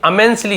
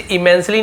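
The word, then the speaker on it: immensely: वॉज यानी थे, अमेंसली, इसे इमेंसली नहीं पढ़ेंगे हम, अधूरे निकलता है, अमेंसली, ठीक है, क्लियर, ध्यान देंगे।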